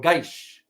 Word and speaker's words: Kish: second one is the kish or geish as they pronounce it in farsi guys is located in